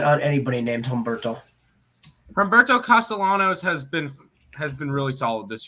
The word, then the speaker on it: Castellanos: Castellanos on the mound for the Arizona Diamondbacks.